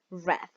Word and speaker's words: read: I say read, okay, like the color.